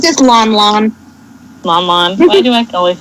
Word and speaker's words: Lon Lon: But it's just Lon Lon, which is basically the Hyrule equivalent of cows. Ooh. Still, Lon Lon.